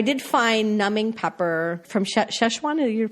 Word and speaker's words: Sichuan: I did find numbing pepper from Szechuan. Did you pronounce that correctly? Yeah, Sichuan.